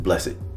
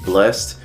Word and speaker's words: BLLESSEDT: And the T is really there mostly to kind of resemble a cross, or to allow you to say it like blessed.